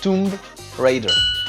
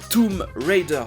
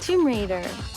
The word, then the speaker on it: Tomb Raider: Mais je pense que c'est Tomb Raider. Ah, c'était presque ça, Tomb Raider. Le B ne se prononce pas. Tomb Raider.